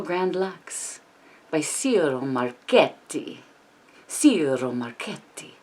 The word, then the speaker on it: Ciro Marchetti: Ciro Marchetti. You have to roll your R, right?